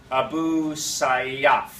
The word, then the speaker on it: Abu Sayyaf: How do you say Abu So. Sayyaf? The military group? Yeah, it's Abu Sayyaf.